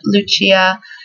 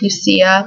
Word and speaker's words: Lucia: I love the pronunciation, Lucia, but I think in the U.S. it would probably get pronounced Lucia, but that's still pretty cute.